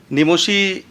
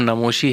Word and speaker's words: नमोशी: मेरा नाम का प्रोनाउंसिएशन मुझे ऐसा लग रहा है कि वो मेरे साथ मुझे लेके चलना चाहिए। इट इज़ नमोशी, नॉट नमोशी।